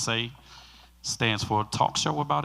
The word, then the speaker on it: TSAE: This is TSAE, T-S-A-E, pronounced SAE, stands for Talk Show About Everything, which means we're going to talk a little bit about everything.